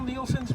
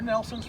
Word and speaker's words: Nielsen: From there, I helped trace Colonel Nielsen's route, or Nelson's route, depending on the family's pronunciation, from Cranberry to the battle site.